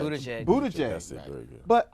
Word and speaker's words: Buttigieg: I cannot pronounce this new candidate who's running. It starts with a B. Whatever. But I said, Buttigieg.